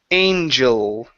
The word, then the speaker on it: angel: So, this is going to be angel. Angel. Give me a good L sound at the end.